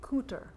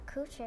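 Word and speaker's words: Kuwait: and that other country it's pronounced cooter was next door did your daddy ever go to Iraq and cooter not coochie but Iraq we went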